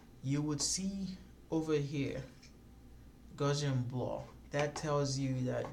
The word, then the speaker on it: Gaussian: search for a particular blur effect it's called Gaussian blur so it's spelled g8u s-s-i a and blur so you